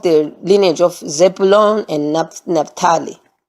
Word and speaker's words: Naphtali: lineage of Zebulun and Naphtali. Okay? Naphtali. That's Zebulun and Naphtali. That's how it's pronounced.